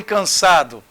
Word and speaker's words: cansado: Gente, aqui o AN ficou com pronúncia de an. Eu não falo cansado, eu falo can. Então a pronúncia é essa. Ficou até parecendo casado, né? Mas é cansado.